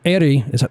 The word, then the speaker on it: Éire: And Éire, which is how you pronounce that, is Gaelic for Ireland.